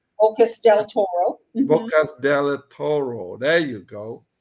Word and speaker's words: Bocas del Toro: Like, if you're thinking of buying in Panama City, there's Boquete, all right, Bosco de Toro. Did I pronounce it right? Ocas del Toro. Bocas del Toro.